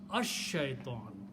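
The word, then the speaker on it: الشيطان: So it becomes ash-shaitan. Not al anymore. Ash. So lam is written, but its sound is not pronounced.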